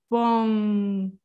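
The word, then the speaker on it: bom: m and and n so i put a g there because it's like if you imagine you're gonna say bong right this is how it would sound but you don't actually pronounce the g so you're you're just gonna go towards there but you don't really say it so it's like boom you know and the air flows through your nose so this is a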